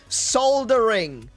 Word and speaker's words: soldering: Soldering. There's an L in that word. America. There's an L in soldering.